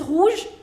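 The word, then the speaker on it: rouges: When you make the plural of something in French, the pronunciation doesn't change. So, even this is rouge, rouge. Vert, vert. You will not pronounce this S.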